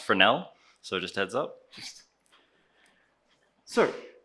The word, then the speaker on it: Fresnel: And I know it's spelled Fresnel, but it's a French word, so it's pronounced Fresnel.